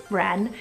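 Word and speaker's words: Renn: So next up, we have the neutral name Wren, spelled R-E-N-N. I love the double N for this, Wren.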